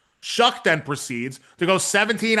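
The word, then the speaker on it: Shough: And I'm not kidding, that is how his name is pronounced. Shuck then proceeds to go 17 out of 30 for 128 with a pick of his own.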